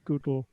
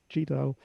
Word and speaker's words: GDAL: Just to explain the pronunciation, Frank Warmerdam at Lausanne in 2006 explained that he pronounced gdal, not gdal, because it was supposed to be a geographical object-oriented data abstraction library, but they never got as far as the object-oriented. But he kept it in his pronunciation because that was the underlying ambition.